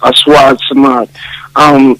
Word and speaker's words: Aswad Samad: Certainly, the pronunciation is Aswad Samad. It means black. Samad means the eternal.